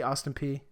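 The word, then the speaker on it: Austin Peay: Austin P before that is how you say Austin P yup yup awesome fee Austin P before that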